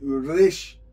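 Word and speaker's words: ר: O resh, a pronúncia é assim, resh, resh, aquele som na garganta, resh, ok?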